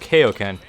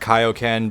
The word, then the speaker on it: Kaioken: be finest move called Kaioken yes I know technically it's pronounced kaio-ken but when I was